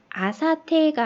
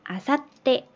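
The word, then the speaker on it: あさって: 어떤 식이냐면은 이렇게 아, 사, 테라는 히라가나를 적어 놓고 요 사이에다가 작은 수를 넣으면은 마치 뒤에 자음이 하나가 더 생긴 것처럼 아사테가 아니라 아사떼 이렇게 발음이 돼요.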